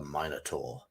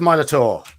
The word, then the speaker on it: Minotaur: So we're going to fight a Minotaur. Note the pronunciation, Americans. Minotaur or Minotaur.